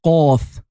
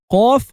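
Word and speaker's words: قاف: The 21st letter is qaf. Qaf is looking like a compressed fa with two quail eggs on the top. Its pronunciation is like the emphasized version of the Q of quail.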